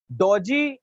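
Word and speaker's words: dodgy: डोजी ज judging थी डोजी judging देखो डोजी इसमें डी जो है वो साइलेंट है दोस्तों है ना दो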